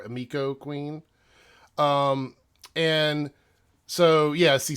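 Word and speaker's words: Emiko: is the character of Emeco Queen I think it's how they pronounce it Emeco or amico Queen and so ya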